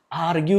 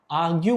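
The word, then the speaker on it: argue: आर्ग्यू लिखा हुआ है, पर इसको पढ़ने के लिए अंग्रेज लोग कैसे पढ़ते हैं उसको देना। इसको बहुत जगह में आर्ग्यू पढ़ते, आर्ग्यू, आर्ग्यू, आर को तो साइलेंट होता ही, आर्ग्यू बोलते हैं, तो हम लोग कैसे बोले, आर्ग्यू।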